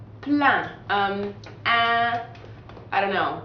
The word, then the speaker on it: plein: So you don't pronounce the N or the S either. So it's kind of like saying the word plant without the NT at the end.